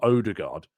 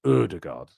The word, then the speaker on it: Ødegaard: It's Ødegaard, like Ødegaard, isn't it? It's more Ødegaard than Odegaard. It's not Odegaard, it's Ødegaard.